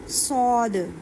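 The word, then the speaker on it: صاد: यह सीन है। यह स्वाद है। सौद सौद ये डिफरेंस रखना है आप लोगों ने।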